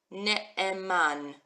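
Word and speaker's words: נאמן: We've got our aleph that makes no sound at all. Sharoni font, I'm glad you're here. We've got ne, man, ne'eman.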